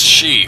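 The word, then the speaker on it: 四: In the Japanese language, one of the many ways you can pronounce the word and the number 4 is shi, which in Japanese is also a word meaning death.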